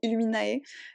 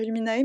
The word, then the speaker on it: Illuminae: Je sais pas si on dit illuminé ou illuminae. Les gens ont tendance à dire illuminae, mais pour moi c'est du latin illuminé. Pour moi ça AE ça fait E, comme dans mon prénom.